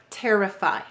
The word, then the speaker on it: terrify: Where is the stress in this word? Terrify. Notice this syllable is stressed. So this is an unstressed syllable. Y says it's E sound at the end of a multi-syllable word in a stressed syllable. In this case, it's unstressed. That's why it's saying it's I sound.